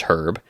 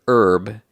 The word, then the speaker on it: herb: Lone word and so Americans don't pronounce the h at the beginning of that word um but the British